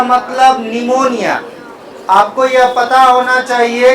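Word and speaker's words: pneumonia: पता होना चाहिए कि निमोनिया में पी क्या होता है? साइलेंस होता है। यानी इसे केवल लिखा जाता है, पढ़ा नहीं जाता नहीं जाता है। जैसे सुनामी में टी साइलेंट होता है।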